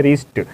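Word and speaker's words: wrist: और हमारा next word है रिस्ट। रिस्ट मीन्स होता है कलाई, यहाँ भी डब्ल्यू के बाद आर है, यहाँ भी डब्ल्यू क्या होगा, साइलेंट होगा।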